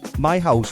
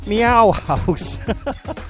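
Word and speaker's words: Meihaus: The band is actually spelled, it's called My House, but it's spelled M-E-I-H-A-U-S. And I'm so glad I got in touch with them, because what I was originally going to call them was Meow House.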